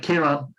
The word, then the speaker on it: Ciaran: memorable and me having a name like Kira was a very difficult thing because I kept the spelling c i a r a n yeah and they couldn't